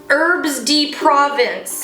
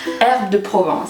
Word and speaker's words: Herbes de Provence: Herbs de Provence. That's not how you say it, is it? Herbes de Provence.